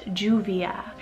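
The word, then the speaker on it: Lluvia: juvia spelled l-l-u-v-i-a now when you put two l's together it pronounces as a j so it's juvia and this one is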